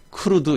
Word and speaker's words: CRUD: 그래서 그냥 부를 때 크루드 이렇게 발음을 하는 거예요.